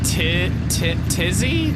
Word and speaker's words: Tizzy: Say it like Timmy, Tizzy?